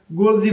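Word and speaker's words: Golgi: এবং গোলজি body. গোলজি বা গোলগি body একই জিনিস।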